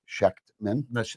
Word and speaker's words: Schechtman: Well, I didn't notice the T. It was like Schechtman. The T is silent.